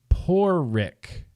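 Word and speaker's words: Pádraig: It's pronounced Porrick. Oh. Porrick. So the A becomes an O.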